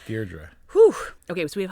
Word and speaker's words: Deirdre: It's not Deidre, right? No, right. Deirdre.